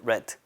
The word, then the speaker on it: read: 이때 read 아니에요. read예요. 이렇게 pp는 발음이 read. 과거도 read.